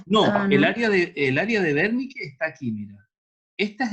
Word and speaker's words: Wernicke: pronunciar, la W la vamos a pronunciar como una V nomás, así como Ya, sí, una E, Wernicke, una ya. V tirando para F, así, Wernicke, así como fuerte.